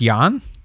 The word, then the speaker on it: Jan: it's j i mean it's not Jan it's Yan Yan I hope